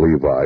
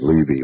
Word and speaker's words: Levi: I called him Levi. It is Levy. Well, it's spelled L-E-V-I.